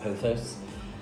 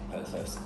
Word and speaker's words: pothos: I think I'm saying that right, pothos. I'm just going to say pothos. Google says it's pronounced pothos, but I think that's something a bit different, don't you?